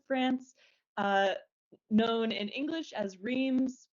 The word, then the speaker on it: Reims: Yeah, France, but it's Reims.